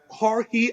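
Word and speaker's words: Heorhii: and then Ukraine have a player called uh hori I don't know if the pronunciation is Right h e o r hii it's basically Georgie but it's pronounced hoi sudakov as well um he plays for sha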